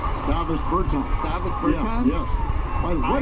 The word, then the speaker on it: Davis Bertans: Oh, well, now, at this point in my life, it's Davos Bertans. Is that how you say his name? Davis Bertans.